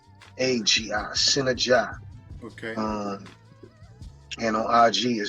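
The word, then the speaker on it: Sinnagi: His name is spelled S-I-N-A-G. S-I-N-N-A-G-I, Synergy.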